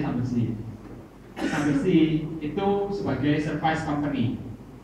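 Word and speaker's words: Schlumberger: Sebagai contoh, Slumberger, tulisannya Slumberger, tapi bacanya Slumberjee.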